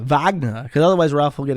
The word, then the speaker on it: Wagner: important it's important that when you say vagna you say it like Arnold Schwarzenegger Wagner because otherwise Ralph will